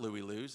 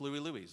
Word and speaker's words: Louie Louie's: I said it wrong. It's not Louie Lou's. It's Louie Louie's.